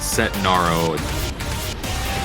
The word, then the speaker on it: Setnaro: like a a tough name for me to pronounce set set Naro yeah that's why I always say just call